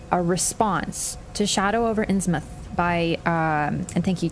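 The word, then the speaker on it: Innsmouth: a reference but a response to Shadow over insouth by um and thank you chat for teaching me how to say insouth because I used to say ins mouth I don't know British pronunciation okay you guys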